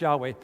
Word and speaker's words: Yahweh: That's the name of God, YHWH, Yahweh, sometimes pronounced Yahweh.